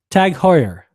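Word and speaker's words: TAG Heuer: video here there better not be an ad tag Hoyer tag Hoyer tag coer has a Android Wear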